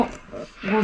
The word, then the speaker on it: 瞽: 包みに目と書いてゴと読みます。